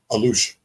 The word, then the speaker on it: Alux: what they are I I was not pronouncing them correctly though when I was telling about them alux you were probably saying alux right I was I was how do you say it Alou Alou yeah and he was telling